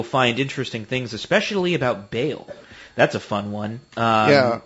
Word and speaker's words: Baal: It's technically pronounced Baal.